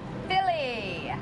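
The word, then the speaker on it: filly: Philly. Not like West Philly, South Philly, North Philly. F-I-L-L-Y. Rhymes with silly, which is what we are, and we're out of time.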